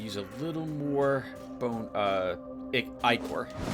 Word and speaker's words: ichor: I looked up how to pronounce ichor, and there was some amount of, leeway. Apparently, ichor is also acceptable, but I'll keep calling it ichor, since that's how this game pronounces it. There's apparently a true way to pronounce it, which isn't either of them. The way it was pronounced over in Greek, or is that right? Yeah, the original Greek pronunciation, and I'm totally not using that either.